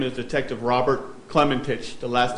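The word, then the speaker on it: Klementich: My name is Detective Robert Clementich. The last name is spelled K-L-E-M-E-N-T-I-C-H.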